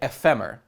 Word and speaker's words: Ephemer: You see a guy who you can recognize from the mobile game, a guy named EPHEMER. It's like ephemera, but there's no A at the end.